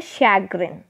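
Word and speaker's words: chagrin: ये जो इसमें CH है, इसको च नहीं बोलना है, इसको श बोलना है, तो बोलना है शैग्रिन।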